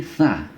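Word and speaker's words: ث: Yang ini sa, tipis ya, sa, ya, sa. Jadi yang terdengar yang angin yang keluar itu sedikit ya, sa.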